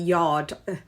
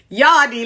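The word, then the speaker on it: Yarde: a lot of money teddy calls him yardy teddy it's yard it's anthony yard the e is silent yadi like a komoda chambia yadi no it's just yard the right way congratulations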